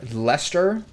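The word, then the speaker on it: Leicester: is Lester on it the thing with Brits is that they pronounce their own words wrong all the time l-e-i-c-e-s-t-e-r Lester like w-o-r-c-e-s-t-e-r-s-h-i-r-e is Worcester skips like half the letters they got all these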